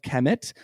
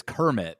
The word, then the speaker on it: Kemet: I've been reading it as Kermit this whole time. Oh, well, there's no R.